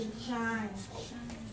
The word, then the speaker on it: shine: ，e 不发音，所以是 shine，好，再来，是，对，是。